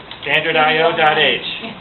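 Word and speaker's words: stdio.h: Standardio.h. That's what it is. That's how you say it in your head anyway, even though it's not spelled that way.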